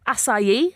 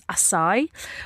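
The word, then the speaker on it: açaí: So we have acai, as in an acai bowl, often pronounced as acai.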